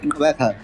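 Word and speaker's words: Gqeberha: So I said Kabaka.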